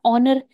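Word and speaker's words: honour: करेंगे एन यूज करेंगे इसी तरह ऑनर ए साइलेंट है एज कंसोनेंट तो है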